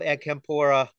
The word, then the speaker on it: Acampora: Acampora, am I pronouncing that right?